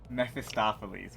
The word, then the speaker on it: Mephistopheles: How do I pronounce this? The bus name? Mephistopheles? Mephistopheles.